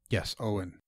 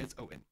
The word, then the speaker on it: Eoin: Yes, Owen. Yes, that is how you pronounce that. It is spelled Eoin, but I'm 95% certain it's Owen.